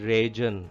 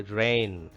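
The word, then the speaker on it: reign: GA is silent here. We do not pronounce it as region. It is actually rain.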